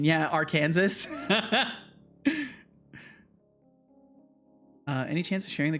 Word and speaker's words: Arkansas: Flabbergasted that the way you said it first is not the right pronunciation. Yeah, Arkansas.